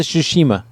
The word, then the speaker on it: Tsushima: me wait Shima ghost the Tsushima hit does the T is silent for some fun maybe